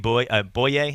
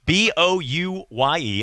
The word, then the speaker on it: Bouye: Like AJ Boye. That's how you say it. Yeah, that's he's a UCF Knight. He's a UCF. He's great. Just making sure I'm saying it right. It's Bouye.